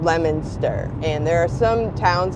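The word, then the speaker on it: Leominster: and it lemoner okay so you spell it l e o um it looks like Leo Minster and even the GPS says it wrong but it's called lemonster and there are some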